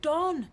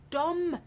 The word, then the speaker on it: Dom: Not Don, Gran. Dom. It rhymes with bomb.